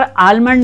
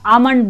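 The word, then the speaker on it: almond: आलमंड के लिए भी, आलमंड मतलब हमारा बादाम, यहाँ पर आलमंड नहीं बोला जाता है, आमंड बोला जाता है, आमंड।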